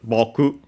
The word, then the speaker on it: 卜: The most common uh uh Chinese reading is bokeu.